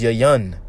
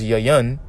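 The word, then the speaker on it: יין: wine real quick here wine in the hebrew is yayan that's how you say wine in the hebrew is yayan and when you get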